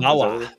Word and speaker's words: Sumbawa: How do you pronounce Sumbawa? Sumbawa.